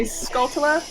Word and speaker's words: Skulltula: so offended and volvagia is it weird to say skulltula no that's that's how you say it it's called chula like a jew tuesday yeah but i remember